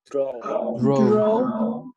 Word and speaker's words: draw: Draw. Draw. Yes, draw. Eso. No le hagan sonar a la U al final, sino solamente draw.